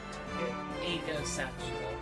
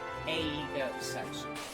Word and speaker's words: aegosexual: Egosexual. Oh. Or rather, technically it's supposed to be said, pronounced aegosexual. I thought it was asexual.